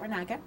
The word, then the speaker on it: Reynaga: is um can you say your name and spell it for me ranaka the whole name and then r-e-y-n-a-g-a i'm